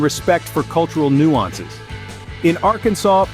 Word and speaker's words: Arkansas: name is a no no you see it's pronounced Arkansas not arenus this might seem like a minor linguistic hiccup